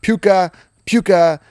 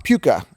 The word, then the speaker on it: Puka: Puka at Philly, good matchup. Why are you saying his name wrong? Puka.